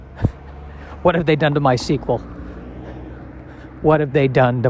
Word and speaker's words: MySQL: i believe it is pronounced my sequel as if it was spelled uh s-e-q-u-e-l and i don't know